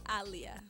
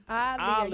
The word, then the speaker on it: Aaliyah: It is Aaliyah. Aaliyah. Y'all got that? It's Aaliyah. Okay.